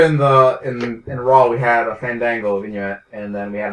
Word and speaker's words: Fandango: And you notice how they've like pronounced it, like Cole went out of his way to make sure it wasn't Fandango, it's Fandango. Fun. Dang. Go.